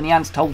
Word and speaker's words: Neanderthal: time it they spell the Neanderthals with out the H fight hate that spelling so although they're going to prefer that spelling and that penetration throughout the game I would claim point-blank refused to pronounce it like that so I'm always been say Neanderthal just to let you